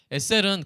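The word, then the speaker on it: עזר: 한번 발음해 볼까요? 시작. 에셀이었어요. 에셀. 근데 에셀은 구약에서 아랫사람을 가리키는 말이 아니었죠.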